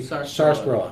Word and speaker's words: sarsaparilla: By the way, I'm pronouncing that right. It's actually sarsaparilla.